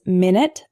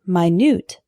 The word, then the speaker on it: minute: of lead lead lead our next one is minute and minute a minute is a period of time 60 seconds for example can I call you back in 10 minutes the word minute is spelled the same way but it's an adjective meaning extremely small for example this isn't an exact replica there are some minute differences minute minute our next heteronym is